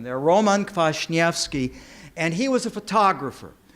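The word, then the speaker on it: Kwasniewski: house the collection of Roman clash yes key yes that's how you pronounce that name their Roman clash Nevsky and he was a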